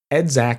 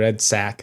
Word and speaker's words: EDSAC: waving or Theory involved edac or edsac however you want to pronounce it has memory that